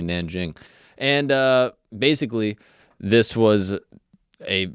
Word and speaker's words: Nanjing: It's I always heard it as king. That's what I always thought, but apparently Nanjing.